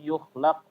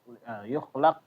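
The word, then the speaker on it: يُخْلَقْ: Jadi qalqalah itu termasuk dari kesalahannya adalah ketika membacanya dia menambahkan angin ya. Jadi kayak tambahan angin. Contohnya allati lam yukhlaq ya yukhlaq laq ya. Laq. Nah, jadi seperti itu kayak tambahan angin. Padahal dia bukan angin ya, suara.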